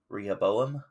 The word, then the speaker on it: Rehoboam: to pronounce that uh if you guys want to look it up it's r e h o b o a n rehoboam who succeeded him would